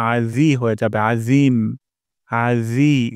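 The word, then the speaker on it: عظيم: রব্বিয়াল সুবহানা রব্বিয়াল তারপর আজিম আইন গলার মাঝখান থেকে উচ্চারণ করতে হবে আ তারপর র জিহ্বার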